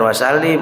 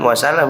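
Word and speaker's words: wassalam: nih dibilang sama kiainya Pak Bacanya jangan was Salim was salam ya Iya itu Kiai belayar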